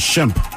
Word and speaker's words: Shemp: That's Shep. This was Shemp. S-H-E-M-P. Yeah, Shemp.